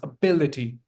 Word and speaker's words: ability: That's why you put stress on the second syllable. It's ability. Ability.